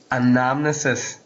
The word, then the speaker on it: anamnesis: is it pronounced anomis anamnesis yeah second a is kind of like an e sound it's like anamnesis anamnesis what does it